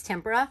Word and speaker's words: tempera: i love working with tempur tempura i always say it wrong i think it's tempera tempura cakes they're kind